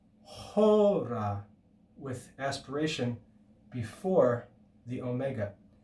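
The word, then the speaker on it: ὥρα: The aspiration mark is like adding an H before that letter. Hora. And the accent, the acute accent, tells us to raise the pitch on the first syllable.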